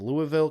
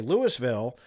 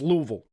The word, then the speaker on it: Louisville: Yeah, when you're in Kentucky, it's important to pronounce that Louisville. Okay? Okay, if you're up in Kentucky and you say Lewisville or Louisville, everybody up there will get all upset with their accent and be like, "It's Louisville.